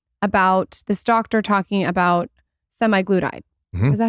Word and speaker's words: semaglutide: saw this thing about this doctor talking about semi glutide is that how you say it semi glutide yeah semi glutide it's like the one of